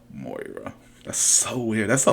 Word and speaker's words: Moira: Because, like, a lot of people say it differently, though. Like, when Benny did the video for this, and in Green Arrow, they pronounced it Moira. But in other shows, I've seen them pronounce it Myra or Maria or some other version of the word. So it's like, how is it really pronounced? O before I. Moira.